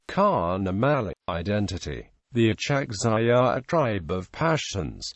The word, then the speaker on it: Achakzai: Achakzai, pronounced sak.Zai in Pashto, is a Pashtun tribe basically that resides on both sides of current Pak-Afghan border.